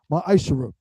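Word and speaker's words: מעשר: tithes which is a commandment you can find this in numbers 18 to 21 and Malachi 3:es 8-10 means 10th in Hebrew and is pronounced maisher 10% of every penny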